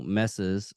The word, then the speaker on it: Messi: Wore a pair of tiny shorts, coupled with an unbuttoned shirt revealing her bikini top when Leo Messi's Argentina faced Wait, so she Australia.